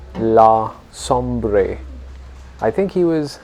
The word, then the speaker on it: Sombre: She had an Indian name, but once she married this person who was called Sombre, she also became known as Begum Samru, which is sort of a mispronunciation of Sombre.